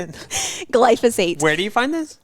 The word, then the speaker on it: glyphosate: Glyphosate.